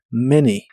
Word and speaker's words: many: niños o hijos tienes la a de many se pronuncia como e many How many children How many children